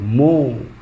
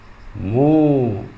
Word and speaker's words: mho: মো। 1/ওহম, that is মো, MHO। এটাকে কি বলা হয় উচ্চারণ? মো।